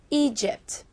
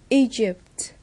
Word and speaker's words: Egypt: Đáp án đúng là D. Egypt. Vì phần gạch dưới của từ này được phát âm là sh, còn phần gạch dưới của các từ còn lại được phát âm là g.